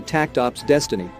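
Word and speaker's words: Takt Op. Destiny: It'd be difficult enough to read even without the invisible S, but Seiji promises there'll be more to Takt Op's Destiny, as it's pronounced, than funky linguistics.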